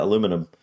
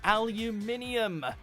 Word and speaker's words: aluminium: in the spelling okay they really do skip out on the second ey in North America but actually this is